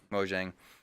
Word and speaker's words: Mojang: for developing minecraft he oversaw I can never pronounce it ma Jiang Mojang Beauchesne Mojang the Swedish game company that developed minecraft they